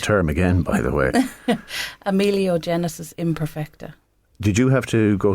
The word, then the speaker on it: Amelogenesis Imperfecta: And once we had I need you to pronounce huge. that term again, by the way. Amelogenesis Imperfecta.